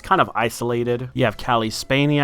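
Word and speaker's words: Cailee Spaeny: You have Calli Spainy, I believe it's pronounced, playing Simone, who is a cello player who got into a bit of an accident.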